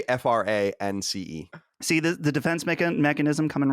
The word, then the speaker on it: France: We don't anglicize words apparently, so no, it's France. France.